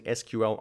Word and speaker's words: SQL: say it's not called SQL Alchemy actually both ways of pronouncing SQL are fine so you can say SQL you can say SQL both are accepted I think the original